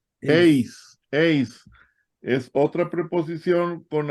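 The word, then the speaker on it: εἰς: Y la otra que sigue, ¿cómo se pronuncia, hermanos? Ace.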